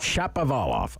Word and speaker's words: Shapovalov: earlier this morning but how do you say his name steve it's dennis chapovala shop of olof okay he's a canadian